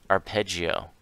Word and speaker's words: arpeggio: Peggy Oh will here here's how it's pronounced I pity you arpeggio the notes of a